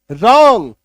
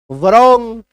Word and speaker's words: wrong: WRONG, WR एक साथ है, W काट दो अब पढ़ो RONG, रॉन्ग।